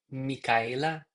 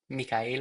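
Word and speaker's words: Micaela: I I believe she pronounces her name a little differently like Mika. Mika. And And pronounce the A. It's M I C A E L A. Mika.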